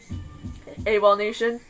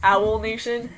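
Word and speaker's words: Awolnation: in a bad mood a wall Nation I used to pronounce that wrong I used to pronounce it owl Nation hence owl critic owl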